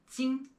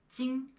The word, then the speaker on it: 金: 信, 金. And when you are pronouncing both of these characters, do not roll your tongue. 信, 金. Just keep your tongue flat and relaxed there.